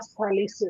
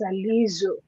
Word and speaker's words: Salizu: Salisu Abraham or something, the man can say it's not Salisu, it's Salizu.